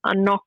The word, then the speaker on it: CNOC: I paired that with a NOC Vecto 2-litre reservoir, so it's spelled CNOC.